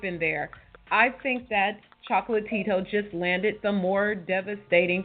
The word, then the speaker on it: Chocolatito: And once again, it's Chocolatito. It's not Chocolito, and it's not Chocolatito. Chocolatito is Michael Jackson's brother. I don't even know what Chocolito is, but it's Chocolatito. All the syllables.